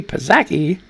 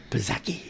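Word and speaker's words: Psaki: press secretary jen zaki pazaki how did how you say her name p-s-a-k-i pazeki that's superseki i like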